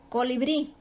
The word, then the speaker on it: colibrí: lo tanto se acentúa colibrí la última sílaba bri es la tónica y terminan vocal por lo tanto se acentúa café pasa lo mismo